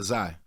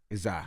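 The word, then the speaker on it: Xilei: how do you pronounce your son's name uh zai isai yeah it's spelled x-i-l-e-i oh it was yes middle name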